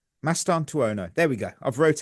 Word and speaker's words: Mastantuono: So the first name is Franco Mastan Tuono. Mastanu.